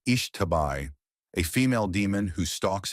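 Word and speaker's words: Xtabay: They have extensive folkloruric traditions and one of the spookier ones that stuck with me is about Lakabai, pronounced Ishtabai, a female demon who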